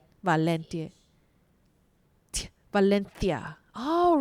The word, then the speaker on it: Valencia: And fun fact, Valencia, it spells CIA, V A L E N C, but pronounced Valencia, right? Valencia. Valencia. Valenthia.